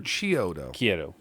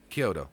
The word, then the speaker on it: Chiodo: like 100 theirs yep is it kyoto or chiyoto kyoto okay this is the pronunciation the k it's key ki when you look at a pronunciation of it it's it starts with the key kyoto um yeah i knew